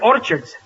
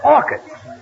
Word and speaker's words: orchids: and bought her some Orchards it's not Orchards it's orchids the CH is pronounced by K oh what movie did